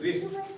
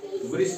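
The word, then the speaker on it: wrist: से पहले डब्लू है इसीलिए डब्ल्यू आर एस टी रिस्ट वृष्ट नहीं पढ़ते हैं क्यों आर से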